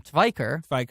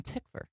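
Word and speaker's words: Tykwer: pronunciation of the name of the third director of Cloud Atlas, which Tom- we said was Tom Twyker. Tviker. Guess what it is? What? Tom Tickver. Tickver.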